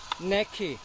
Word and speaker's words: knacky: 예, 그 다음에 이것은 내기와 발음이 조금 다른데 많이 써먹을 수 있는 듯 합니다. 내키, 내키, 내키. K-N-A-C-K-Y인데 요령이 있는, 솜씨가 좋은. 택트, 택트하고 뭐 택트란 말을 많이 알려졌지만 내키, 내키입니다. 내키, 넥, 요령이 있는 그런 것처럼.